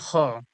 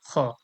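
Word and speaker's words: خ: গেল নাম্বার তিন গাইন খ গাইন খ কণ্ঠ হলকের অর্থাৎ কণ্ঠনলির শেষ হইতে কণ্ঠনীর শেষ আমরা কোথায়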